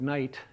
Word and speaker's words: knight: So, you know, uh uh we spell that with a K at the beginning because it used to be pronounced K. There used to be a K there. Uh and then English got out of the habit of pronouncing K before N.